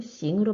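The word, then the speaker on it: 行: 여기서 항 원래는 싱으로 발음되었습니다. 기억나십니까? 가다 하다 뭐 가능하다라는 뜻에 동사나 형용사의 품사의 기능을 가질 때는 항이 아니라 싱으로 읽었습니다.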